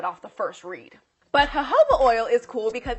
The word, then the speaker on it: jojoba: The next oil is jojoba oil. You might look at it and read jojoba oil, but you have to pronounce the J's with H's.